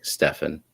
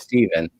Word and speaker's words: Stephen: discriminate on wacky pronunciations except when you call me stefan corey if you're listening it's stephen thank you sandy welcome